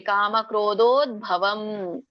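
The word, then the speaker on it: ಕಾಮಕ್ರೋಧೋದ್ಭವಂ: ವಿಮೋಕ್ಷಣ ಆಮೇಲೆ ಮೂರನೇ ಲೈನ್ಲ್ಲಿ ಕಾಮ ಕ್ರೋಧೋಭವಂ ಕಾಮ ಕ್ರೋ ಕ ಕೆ ಓ ಸ್ವರ ಕೂಡಿದೆ ದೊಡ್ಡ ಸ್ವರ ಕೂಡಿದೆ ಮತ್ತೆ ರ ಒತ್ತಿದೆ ಹಾಗಾಗಿ ಕ್ರೋಧೋ ದೊಡ್ಡ ದೋ ಇದೆ ಮತ್ತೆ ದೊಡ್ಡ ಓ ಕೂಡಿದೆ ಭವ ದಕ್ಕೆ ಭ ಒತ್ತಿದೆ ದೊಡ್ಡ ಭ ದ್ಭವ ಭ ದ್ಭವ ಹೇಳಬಾರದು ಮತ್ತೆ ಸಣ್ಣ ಭಾಗ ದ್ಭವಂ ಸೋ ಇದನ್ನ ಬಿಡಿಸಿದಾಗ ಏನಾಗುತ್ತೆ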